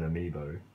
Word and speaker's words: amiibo: to create a me we don't have an amiibo that's how you say it we never had